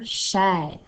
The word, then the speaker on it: cher: Alors, tu as vu que chair, hein, c'est un hors-la-loi, puisque d'habitude, le E-R à la fin d'un mot fait le son E, mais pas dans ce cas-ci.